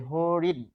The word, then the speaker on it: হরিণ: ফলে হরিণ হরিণ। যেহেতু হরিণ বলে আপনি থেমে যাচ্ছেন তাই অবশ্যই এখানে হস চিহ্ন দিতে হবে। বানানে হস চিহ্ন দিতে হয় না। কিন্তু উচ্চারণে অবশ্যই সেটা দিতে হবে। নইলে উচ্চারণ পরিবর্তন হয়ে যাবে।